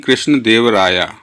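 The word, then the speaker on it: कृष्णदेव राय: The mother of king कृष्ण देव राया, कृष्ण देव राया। हम English में क्या करते हैं, ये लगाते हैं ना, तो इसलिए ए लगा हुआ है। ये है इसका प्रोनाउंसिएशन कृष्ण देव राय, ठीक है।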